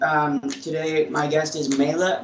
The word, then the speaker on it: Meyla: for that and um today my guest is mela mila how do you pronounce it okay um go ahead and introduce yourself and uh where you went what years all that stuff so my name is mayla and i went to crosstalk from january